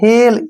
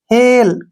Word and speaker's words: hail: यहाँ पे देखिए FAIL फेल, GAIN gain, next है HAIL हेल, यहाँ पर भी क्या है, AI के बाद एल आया है, हेल।